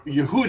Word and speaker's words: Yehuda: This family, as you can see here, Judah, or Yehuda as we would pronounce it, Yehuda Maccabee, he was